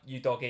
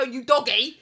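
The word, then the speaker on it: Udogie: going up to go you doggy people are saying that's how you say it save your doggy um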